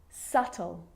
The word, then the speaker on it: subtle: So see, in all of those examples, my lips aren't closing and coming together to form the B sound. I'm just pronouncing the T. Subtle, debt, and doubt.